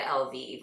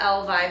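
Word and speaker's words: Elvive: pathetic that I said LV what I literally had to pronounce the name of this thing five million times this is the L'Oreal Elva total repair 5 damage erasing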